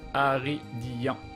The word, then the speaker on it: Aridian: C'est Aridian, ça se prononce Aridian.